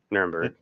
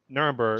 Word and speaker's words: Nuremberg: name was it called nirenberg how do you pronounce it yeah Nuremberg Nuremberg just following orders exactly yeah that that's the